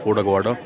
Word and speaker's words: Aguada: It's pronounced as Fort Aguada.